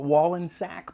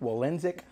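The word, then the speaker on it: Wollensak: it anyway mediocre wallensick i call it wall and sack but i think it's pronounced wallensick two of them are well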